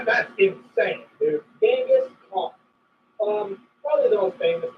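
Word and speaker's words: Genghis Khan: Gangus Kong. Um probably the most famous concert in the entirety of everything. Yeah. Uh um I think the actual name is pronounce it Gangaskhan. I'm sorry that doesn't sound cool.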